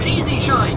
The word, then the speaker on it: E-Z Shine: That's right, it's not the word easy written out, it's the letters. It sort of sounds like it when you pronounce the Z to Z. It sounds like Easy Shine.